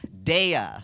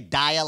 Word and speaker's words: Daya: but all right now your name is pronounced daya some people say daya like the girl from orange is the new black yeah your real name